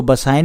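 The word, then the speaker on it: Bassein: मेरी प्रोनाउंसिएशन थोड़ी सी बहुत ऊपर नीचे हो सकती है भैया, इसको बसाइन भी बोला जाता है, मैं इसको बेसिन बोल रहा हूँ, ठीक है।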